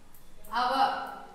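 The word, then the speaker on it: hour: For example, our.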